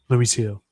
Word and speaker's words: Luis Gil: Luis Luis Hill, Luis Gil, is that how I pronounce it? Luis Hill.